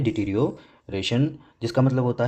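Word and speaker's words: deterioration: ठीक है, इसकी प्रोनाउंसिएशन है डिटीरियोरेशन, जिसका मतलब होता है the process of becoming verse, बिगड़ना, ह्रास या पतन।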